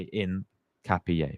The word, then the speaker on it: Hincapié: So, you don't you don't say the H. You say in capier, basically.